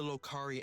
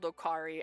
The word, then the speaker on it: Okari: will choose its wielder it's called okari I've been saying it wrong that person will become